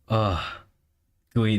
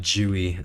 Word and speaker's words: GUI: Gooey, not Jewy.